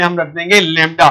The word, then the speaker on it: lambda: लैम्डा LEMDA। मेरा बेटा इसको लैम्डा प्रोनाउंस कर दे LEMDA।